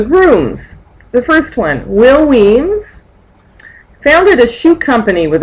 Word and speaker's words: Wemyss: really likes will Weems notice we pronounce it Weems it goes back to some Scottish Earl or something here's a picture of